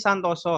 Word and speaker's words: Santoso: Santosa atau Santoso? Dibacanya sih Santoso harusnya. Santoso. Santosa. Soalnya kan belakangnya Widiantaka. Kalau O kan Santoso Widiantoko ya kan?